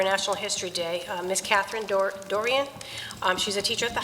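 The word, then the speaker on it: Doiron: Catherine, it's spelled D-O-I-R-O-N. Dorian?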